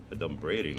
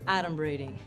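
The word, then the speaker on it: adumbrating: 38 points for me a dumb braiding that's not even a word look at first of all it's pronounced atom braiding and it means pretending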